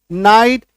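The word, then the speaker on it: night: एनटी नॉट एनओस knows N आईजीएसटी नाइट ये आई जी एस टी आया ना इसमें है ना तो जी एस साइलेंट हो गया नाइट एन आईटी नाइट एन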